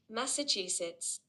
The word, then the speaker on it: Massachusetts: word okay it's actually a US state okay pronunciation yes okay let me increase the volume Massachusetts oh Massachusetts yes interesting interesting so it's actually